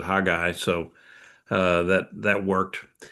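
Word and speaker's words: Haggai: And uh uh Hagai, it's uh um that one was an easy one to pronounce and uh I I'd heard it pronounced all sorts of other ways, but I'd always pronounced it hag guy.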